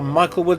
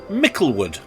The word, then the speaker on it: Michaelwood: On which UK motorway are Michaelwood services, or as it's pronounced locally to the services, Micklewood? They call it Micklewood. But to anybody else who's reading it, it's Michaelwood services.